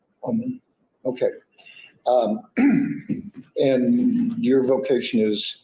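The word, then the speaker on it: Ulman: How do you pronounce that? Ullman. Ullman.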